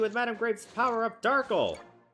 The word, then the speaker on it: Darkle: So if you're here to stop us, then I punish you with Madame Grape's power up Darkle. It rhymes with sparkle.